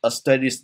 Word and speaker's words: asterisk: 这个东西应该它的那个念法叫 asterisk 啊，就是一个这个什么？